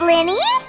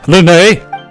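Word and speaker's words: Lyney: Thanks, Lenny. Don't mention it. There's no need. It's pronounced Lene.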